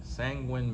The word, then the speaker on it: sanguine: Sanguine means someone who is optimistic and confident, especially in a difficult situation. It is pronounced sanguine.